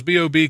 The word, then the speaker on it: B.o.B: that- or No, does it's it B.O.B. stand- It's actually it's- pronounced B.O.B. I mean, B period, O period, B period.